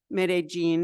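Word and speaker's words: Medellín: zoom meeting with our friends rotarian friends in mid aene is how you say it I've just learned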